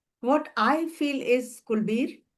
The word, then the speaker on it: Kulveer: What I feel is Kulbir, am I pronouncing your name correctly? Yes, Kulbir.